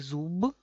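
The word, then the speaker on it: зуб: Al final se queda, en vez de b, se queda p.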